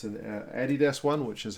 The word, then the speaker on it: Adidas: It's an Adidas one, which is how we pronounce that company's name here in New Zealand.